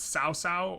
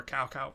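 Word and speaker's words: Cao Cao: or the antagonist is sao sao or cow cow not 100 sure um i think cow kyle's like the americanized pronunciation but sao sao is uh more correct um he's portrayed as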